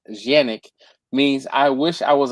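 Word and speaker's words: Canik: He he has all the sexiness like it's it's technically so eastwin says he says canic but actually the the true pronunciation is janic means I wish I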